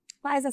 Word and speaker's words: Faiza: फिजा नहीं। एक तो कभी कभी मैंने अब डिस्कशन किया, हाँ FAI, कभी कभी जो फिजा बोलते हैं मैं सोचती हूँ कि स्पेलिंग देख, नाम देख। मैंने फाइजा ही बोला। एडिट करा इन्होंने बोला है फिजा, FAIZA, Faiza Salim.